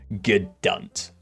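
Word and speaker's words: G'dunt: Like a go don't. No. Gedunt. G apostrophe. It's spelled like that. G apostrophe D-U-N-T.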